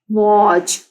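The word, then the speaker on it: watch: अब यहाँ पे TCH, वॉच, टी के साउंड साइलेंट हो गई है लेकिन ए के साउंड दे रहा है, च की, वॉच।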